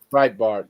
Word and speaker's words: Breitbart: don't use them because they're jackasses but uh Brett Bart is that how you say it bre Bart yeah let me uh hey while you're looking